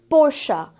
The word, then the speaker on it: Porsche: Porsche again is the incorrect pronunciation because इसे हम Porsche की तरह, even